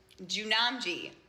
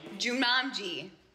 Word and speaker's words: Jumanji: Jumanji. No, Jew. Like Jewish people, Jew, Jumanji. Jumanji.